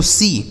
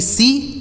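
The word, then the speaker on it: see: आगे S double E और एस ई ए तो एस डबल ई इसे पढ़ा जाता है दोस्तों सी एस डबल ई सी और एस ई ए सी इसको भी सी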